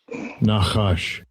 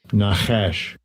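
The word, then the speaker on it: נחש: Nachash.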